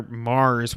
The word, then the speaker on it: Mars: Zone of the Enders, speaking of Hideo Kojima, Zone of the Enders, the second runner, Mars, which is spelled MVRS, which is extremely confusing, is coming out on PS4, PC, and VR in 2018.